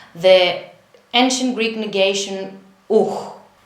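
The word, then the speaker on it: οὐ: How do we pronounce the ancient Greek negation ouh. It is like this. Ouh. We use the second way of pronunciation when the tongue touches the velar.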